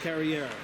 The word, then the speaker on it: Carrier: The one with the E is the one that's pronounced Carrier.